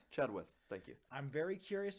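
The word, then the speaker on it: Chenoweth: Chadwith.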